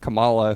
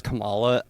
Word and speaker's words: Kamala: layup, and now it's just like you have Kamala, who, I want to talk about this real quick. The Democratic campaign, like, with Joe Biden versus Kamala, I don't know what. Kamala.